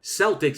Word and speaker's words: Celtic: for those studying language and history Doug it's pronounced Celtic Celtics is reserved for Boston basketball and a beloved